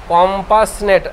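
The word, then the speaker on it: compassionate: আমরা বলি সহানুভূতি সহানুভূতিশীল উচ্চারণটা কিন্তু একটু আলাদা হবে বানানটার সাথে উচ্চারণটা কম্পাসনেট কিন্তু বানান দেখতে গেলে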